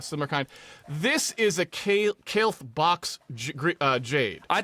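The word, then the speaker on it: Kailh: I thought they were called Callie's for a long time. You're probably right. I have no idea how to pronounce it. You're right. They're actually called kale.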